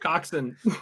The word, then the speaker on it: coxswain: Coxswain? How do you say it? Coxon. Coxswain. Think of it this way: Cox. In. Coxon.